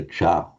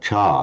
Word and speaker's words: ca: You can either pronounce it as a cha as in northern India, or even a ch, which is how Shirinamala and Dili and Sinhala speakers would pronounce it. But the important thing is to keep it short.